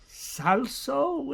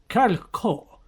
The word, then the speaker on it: Calco: "How on earth does one pronounce this? Salso, is it?" "Calco, Eminence. He's Indian."